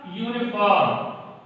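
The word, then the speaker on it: uniform: मिलेगा वो ये मिलेगा यूनिफॉर्म। तो जाहिर सी बात है ये हमारा है तो कॉन्सोनेंट, लेकिन जब इसका हम प्रोनाउंसिएशन कर रहे हैं तो यह वावल साउंड से शुरू हो रहा है, सॉरी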